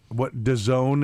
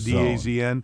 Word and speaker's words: DAZN: Main Street Sports has been attempting to sell itself to the London-based, DAZN is how you're supposed to pronounce it, DAZN.